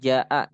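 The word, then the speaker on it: جاء: Contohnya iza jaa. Nah, tuh jaa. Ja itu kan dibacanya panjang tuh karena setelah huruf ja tuh ada alif kan. Ketemu lagi sama hamzah tuh. Dan dia masih satu kalimat gitu.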